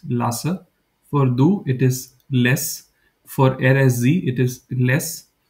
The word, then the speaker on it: lässt: I'm not saying last. I'm just saying less. You can say do lest, there is nothing wrong in it, but I'm just telling you how normally people where I live in Germany pronounce it. So you don't have to pronounce the T part.